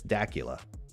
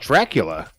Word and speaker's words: Dacula: I don't believe you it's not Dracula it's Dacula I probably mispronouncing it but I don't care it was called Dracula no it's Dacula that'd